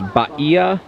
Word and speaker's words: Bahia: walking up and originally I've been saying it beah Honda but obviously I have been extremely wrong so just for future reference you can correct me if you if I say it wrong again but is baa ba all right off to the bridge we